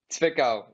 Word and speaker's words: Zwickau: Zwickau. The W is like a V.